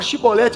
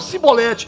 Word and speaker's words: Shibolete: Eles não conseguiam falar Shibolete, eles falavam Sibolete.